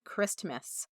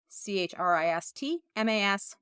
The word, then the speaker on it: Christmas: with a discount code Christmas c-h-r-i-s-t-m-a-s yes I know the t is silent but I didn't want